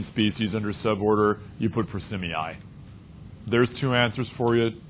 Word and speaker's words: Prosimii: Yeah, prosimii is how it's pronounced. You get to learn some Latin pronunciations in here now.